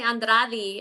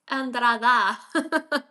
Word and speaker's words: Andrada: They they put an E at the end, you know? They they want to say Andradi, and I'm like, it's Andrada.